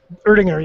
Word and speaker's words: Erdinger: The second one that I picked up was Erdinger. Is that how you say it? Erdinger, yeah, that's how you say it.